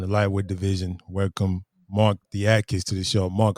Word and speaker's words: Diakiese: It's DIA. It's African boys like the way we say D with the I. It says Yeah. dia. It's sort of the way English guys say like dia, but pronounced differently.